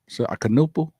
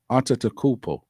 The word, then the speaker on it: Antetokounmpo: I can never pronounce it. Akanupu? No. Giannis's brother. Oh, yeah. Costas. How do you pronounce it? Antetokounmpo.